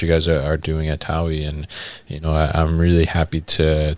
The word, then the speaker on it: TAWI: If you're Swedish, they pronounce it with a V accent, like a TAWI, but it's TAWI, okay.